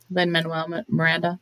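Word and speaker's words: Lin-Manuel Miranda: uh Lynn how do you say his name Len Manuel Miranda yes I still I can't even say it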